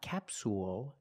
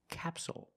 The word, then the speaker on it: capsule: word is capsule again the stress is on the first syllable so the second syllable is short it's not capsule it's capsule with a dark L at the end capsule so we see